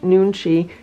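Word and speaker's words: 눈치: sense for winning friends and influencing people nunchi pronounced nunchi can help you connect with others so you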